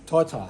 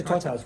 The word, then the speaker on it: Titar: We're in here with, how do you pronounce it? I say Titar, you say... Titar. Yeah, Titar's good.